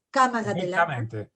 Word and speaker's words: Cámara de Landa: bueno, el profesor doctor Cámara de Landa, lo pronuncio bien, Cámara de Landa, perfectamente.